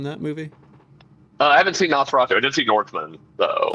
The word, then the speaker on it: Nosferatu: didn't get to see what how do you pronounce it? Nostafaru? No, is that how you say it? oh, If, Nosferatu. Nosferatu.